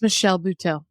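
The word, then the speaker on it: Michelle Buteau: Instagram and I don't want to get her name wrong is it the bhau Lady Michelle bhau it's Michelle bhau yeah yeah so funny the day you told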